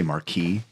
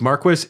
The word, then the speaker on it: Marquis: want to say I keep wanting to say Marquee that is the correct pronunciation many times Marquis is a pronunciation in some areas see that